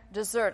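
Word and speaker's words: desert: work of their hands render to them their dessert and i know it's funny because of the way it's spelt but that is the way it's pronounced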